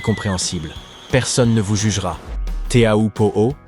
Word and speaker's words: Teahupo'o: Le nom lui-même, prononcé Chopu, signifie crâne brisé en tahitien, ce qui donne une idée de la dangerosité du lieu.